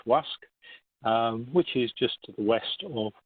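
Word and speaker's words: Łask: marker here by lask it's pronounced in Polish WASC which is just west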